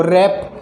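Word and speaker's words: wrap: डब्लू कब silent रहेगा जैसे देखो रैप रैप तो इसमें रैप ए रहा है ये व की कोई साउंड नहीं निकल रही है तो यह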